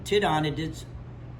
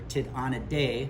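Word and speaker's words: Tytonidae: entertain two different families the tid on it is or tit on a day or two on a d either pronunciation is fine and then strij a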